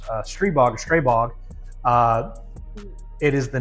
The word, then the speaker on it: Stribog: So this is a Slovak design and actually the term uh it is pronounced stbog straybog.